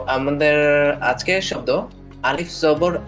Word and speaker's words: أَ: তো আমাদের আজকের শব্দ আলিফ জবর আ। আলিফ জবর আ, এটা উচ্চারণ হয় আ।